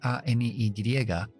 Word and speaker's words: any: ahora tengo Any comúnmente Any la a se convierte en una e n o muchos meni